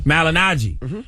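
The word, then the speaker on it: Malignaggi: How you pronounce his last name? Malinaji.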